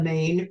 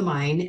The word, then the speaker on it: Main: So I started on the Main or the Mine, actually, that's how they say it, and then the Rhine and the Mosel.